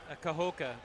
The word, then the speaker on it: Kahoka: How do you pronounce that? Kahoka.